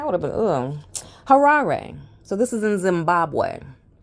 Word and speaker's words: Harare: So basically, this, I want to pronounce the town right. So, I guess, let me see. Here we go. Harare. Thanks, girl.